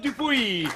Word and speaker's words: Dupouy: Ah, on dit Dupouy. Alors, tu le prononces à la Gasconne, s'il te plaît. Ah, À la d'accord, Gasconne, on d'accord. dit Dupouy. Ça s'écrit Dupouy, mais ça se dit Dupouy.